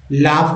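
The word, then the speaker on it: laugh: है यूजी एच को फ पढ़ते है क्या पढ़ते है फ फ जैसे एल ए जी यू जी एच लाफ हो जाता है पास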